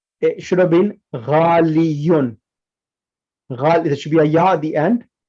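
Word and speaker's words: غالٍ: So ghaliyun is pronounced ghalin with a kasra tanween.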